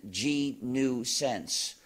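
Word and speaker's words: gNewSense: of joke you see it's written G new sense but it sounds like my job title as head of the gnu project I am the chief ganousens which is spelled however as G followed by nuisance and then there is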